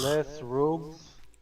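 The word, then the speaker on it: Les Rouges: Les Rogues.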